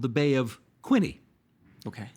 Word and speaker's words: Quinte: The Bay of Quinte. Right. That's what I would call it, too. But if you live there, it's called the Bay of "Quinie." Okay. They don't really pronounce the "T."